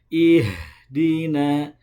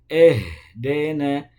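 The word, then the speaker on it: إهدنا: Ihdina, bukan dena, bukan tapi ya. Jadi bacanya ihdina, ya.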